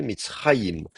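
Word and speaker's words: מצרים: Et là encore, il faut noter quand c'est pas la dernière syllabe qui est accentuée, Mitzraïm.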